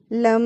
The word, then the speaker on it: लं: जैसे लम लम लम। जीभ को तालू से लगाकर ल वर्ण का उच्चारण करें और दोनों होठों को मिलाकर म वर्ण का उच्चारण लंबी समय तक करना है।